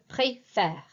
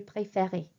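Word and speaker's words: préfère: my air pronunciation here I prefer is play fair it is not your play fairy okay that's I favorite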